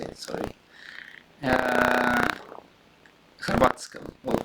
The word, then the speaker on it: Hrvatska: Hrvatska, or how do you say in Russian? Hrvatska.